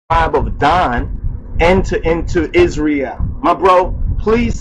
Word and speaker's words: Israel: tribe of Dan enter into Israel. My bro, please spell our name Israel correctly. It's not Israel, it's Israel. Israel.